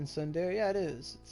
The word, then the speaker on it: tsundere: The T is silent in tsundere.